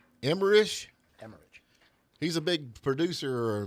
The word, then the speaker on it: Emmerich: Emmerich? Emmerich.